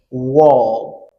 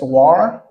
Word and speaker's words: wall: Wall. Wall. Me. But do not confuse war. It's war and wall.